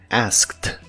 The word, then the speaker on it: asked: La ed que se le agrega en este caso se pronuncia como t, asked, asked, y lo puedes usar